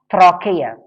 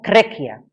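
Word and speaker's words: trachea: دي بتتنطق تراكيه في البريتش تقريبا، والانجليزي بتتقال تريكيا.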